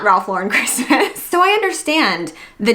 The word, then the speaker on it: Ralph Lauren: There's a big misconception that it's pronounced Ralph Lauren but he is an American he is an American designer. It is pronounced Ralph Lauren.